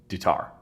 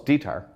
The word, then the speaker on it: Ditar: There's two ways I want to pronounce it. I'm gonna say the wrong one. Dutar. Close. Ditar. Okay, so it was the other one.